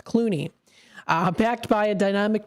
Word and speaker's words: Clooney: This is called Hey There, the music of Rosemary Culie. Uh, I'm sorry, Clooney. I'm so sorry, I was I was pronouncing the last name wrong. It's Clooney.